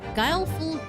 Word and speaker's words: guileful: old life selling explosiv Venus is a Gile guileful goddess indeed Gile fo hold on gu uh